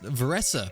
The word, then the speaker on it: Varesa: apologies I learned that her name is pronounced vessa and then I listened to the Japanese one where it's more so pronounced Vera and that just stuck in my head so for the rest